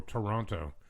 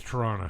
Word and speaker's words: Toronto: you can always tell when somebody is like not from here when they go Toronto. I'm like, yeah, Yeah. dude, that's not how you say it. No. It's Toronto. Toronto.